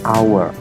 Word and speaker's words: hour: Tapi bukan dibaca hour, tapi hour. Hour cara membacanya. Nah, pengucapannya inilah dimulai dari vokal.